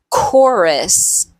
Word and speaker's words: chorus: Sometimes CH sounds like a K. Chemistry, choir, or chorus, chaos, architect, hierarchy, character, schedule, school, ache, mechanic, choreography.